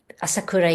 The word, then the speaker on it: Asakura: any people who are not Japanese to just pronounce or remember. Uh, Asakura is Asakura, but you don't want to remember.